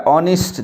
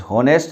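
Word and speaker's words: honest: ऑनेस्ट, ध्यान देना इस शब्द पर, ऑनेस्ट, होनेस्ट नहीं, होनेस्ट बोल देते हैं, ऑनेस्ट बिल्कुल गलत उच्चारण है।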